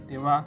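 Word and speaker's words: では: contoh ketika watashiwa Sinshe Dewa arimasen atau jaari maseng watashi wa Sensei Dewa arimasen atau jahat maseng yang artinya Saya bukan guru perhatian huruf H dari dewa diucapkan wah Hai jadi Dewa arimasen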